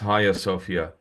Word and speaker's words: Hagia Sophia: It's written hagia Sophia, but it's pronounced higher Sophia.